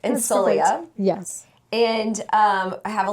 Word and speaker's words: Insolia: Insolia.